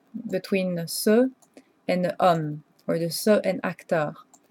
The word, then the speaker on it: homme: When you have a masculine, so it should be ce for homme and acteur that are masculine, but homme technically starts with a vowel because the H is silent.